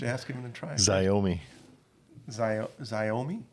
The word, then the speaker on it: Xiaomi: Xiaomi. Xiaomi? Xiaomi. Very This good. is Xiaomi. Is that what it is? Xiaomi.